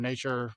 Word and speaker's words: Natur: And so nature, Natur is how you say nature in Norwegian.